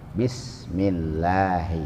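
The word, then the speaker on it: بسم الله: ada di atas lam bismilahi Hai dibacanya enggak boleh bis ya bismilahi hai ar-rahmani Hai lafal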